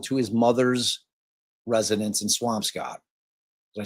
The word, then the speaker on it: Swampscott: I mean, if you don't pronounce that Swamp Scott, all you Massachusetts people can go blow it out your ass because it's got to be Swamp Scott. It's got to be Swamp Scott, right?